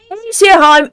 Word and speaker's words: Aesirheim: far away land of Kumo this is asheim asheim thank you you are most wonderful for helping me pronounce that correctly but any any who we